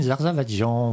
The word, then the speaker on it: Zarzavatdjian: Aux éditions Les Presses de la Cité, et c'est de Corinne Zarzavadjian. Voilà. C'est bien prononcé en plus.